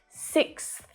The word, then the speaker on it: sixth: That TH sound at the end, it doesn't have to be super strong, but you do need to make your tongue just pop through your teeth a little.